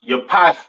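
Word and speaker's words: Japheth: East Indians all right next we have jaffet all right or jaffet some people like to call it right um pronounce Yap in Hebrew these are your so-called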